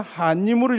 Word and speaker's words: 환인: 그 다음에 이 석재임 이제 환인이라고 썼지만 우리가 읽을 때는 한님으로 읽으시면 가장 좋습니다. 우리 발음은 한님.